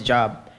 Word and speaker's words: Job: His name was Job. Wow. It's spelled the same way, but just pronounced in a different way.